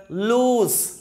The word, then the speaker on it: lose: මේක ඔබ loss කියලා හැම ප්‍රනවුන්ස් කරන්න එපා. loss නෙවෙයි. ගොඩාක් අය මේක mispronounce කරනවා. වැරදියට ප්‍රනවුන්ස් කරනවා. මේක ප්‍රනවුන්ස් වෙන්නේ correct pronunciation එක lose.